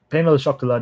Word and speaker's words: pain au chocolat: Pain au chocolat, not chocolate.